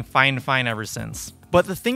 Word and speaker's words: Fifine: fine fine i know it looks like it's pronounced fi fine but in the past they actually reached out to me and corrected me and said that it's actually pronounced fine fine so i've been saying fine fine ever since but the thing about this microphone